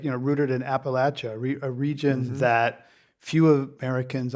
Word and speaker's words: Appalachia: Right, and I feel that anchor in your family, and also it feels like, rooted in Appalachia, a region that few Americans honestly visit or understand.